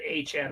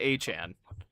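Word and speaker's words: Etienne: He wants to pronounce it Achan. I guess Travis ETN wants to pronounce it Aan.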